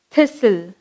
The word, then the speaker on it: thistle: Next, thistle.